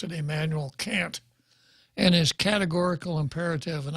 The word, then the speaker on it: Kant: and the categorical imperative it's of emmanuel people pronounce it kant i don't i pronounce it emmanuel can't and is categorical imperative and i'll paraphrase it